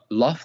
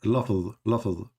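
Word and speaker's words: لفظ: So let me teach you how to say it. Lafz. Sah, yeah, lafz.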